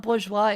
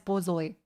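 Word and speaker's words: borzoi: Okay, it's boy. Okay, not bourgeoa. It's Bzoi.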